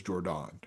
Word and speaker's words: Jordan: Is that how you say Is that how you say your first name of Jordon or No. Oh no, it's Jordan.